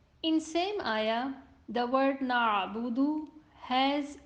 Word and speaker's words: نعبد: On hamza, sound stops at once and then dal has dhamma on it and it would be read round.